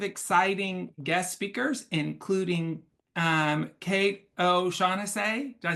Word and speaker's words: O'Shaughnessy: We have lots of exciting guest speakers, including Kate O'Shaughnessy. Did I say it right? Close. O'Shaughnessy.